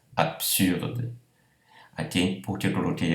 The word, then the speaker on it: absurde: Absurde, vejam que a pronúncia é PS, não BS. Absurde.